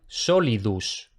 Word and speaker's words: solidus: La gente que aspira o elide la S al final de palabra o a final de sílaba debe hacer el esfuerzo por pronunciarla. Por ejemplo, en solidus.